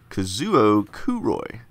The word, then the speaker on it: Kazuo Kuroi: Oh look, the name is pronounced Kazuo Kuroi.